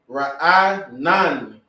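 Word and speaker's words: רענן: Ra'anan. And yes, na gets its full sound, but it's dependent on that na to make that sound nan with that N at the end.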